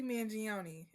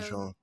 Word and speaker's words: Mangione: Luigi Mangione.